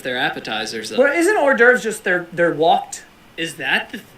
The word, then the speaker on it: hors d'oeuvres: So apparently it's not whore door, it's hors d'oeuvres. I once saw somebody refer to them as whores d'ivores.